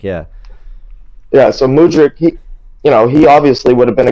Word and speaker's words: Mudryk: I'm being used to say Mudryk because I've heard it from everyone, but it is Mudryk. Yeah. Yeah. So Mudryk, he obviously would have been a great person to slide in there.